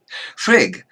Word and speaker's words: Frigg: pantheon Freya and shriek the latter often called Frigga but that that isn't correct there's no a on the end just as there's no a on vowel and there is no a on the end of the goddess hel name she's hell not hello